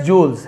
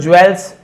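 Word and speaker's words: jewel: diamonds हीरे एंड प्रिसेस joules है ना इससे बहुत सारे लोग ज्वेल्स ज्वेलर है ना आपने ज्वलर होता है एक्चुअल में ज्वेल नहीं होता है जूल होता है ज्वलर यानी होता है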